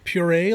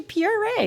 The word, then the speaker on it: Pierre: is pierre eh yeah puree like yes it's spelled pierre but they say puree right the brazilians yeah they pronounce it